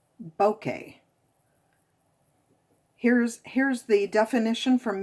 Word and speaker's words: bokeh: to say this again bokeh is the pronunciation or bokeh which is actually the way i've always said it okay this is